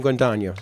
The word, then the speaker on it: Guadagno: Now I'd like to introduce our Lieutenant Governor of the state of New Jersey, Lieutenant Governor Kim Guadagno.